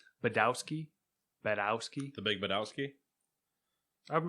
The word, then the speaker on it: Badowski: the w is yeah that's pronounced like a v that's what my i mean it's that sounds more polish budovsky my american nes is